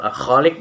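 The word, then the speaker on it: الخالق: Selanjutnya makhorijul hurufnya, huruf kho dalam lafal al-khaliq dibaca panjang karena ada huruf alif di depan huruf kho yang berharokat fathah.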